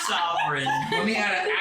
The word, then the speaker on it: Savarin: I was able to communicate discreetly with Savarin, and she seems. Was that noticeable? Me looking at my notes. You still said it wrong. Sovereign.